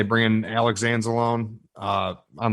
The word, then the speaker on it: Anzalone: I don't know why I said it like Italian just a minute ago, but Anzalone is how it's said.